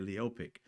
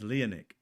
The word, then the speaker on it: Leonov: Uh I think my man uh Roana mispronounced his name. I think he said Leopic. It's Leonic. Leanov Leonov.